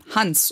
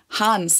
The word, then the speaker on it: Hans: and the name is Hans or Hans. I don't know. Hans? No one says that. Hans. The funny thing is, like, when Americans say Hans, they always pronounce the vowel so long.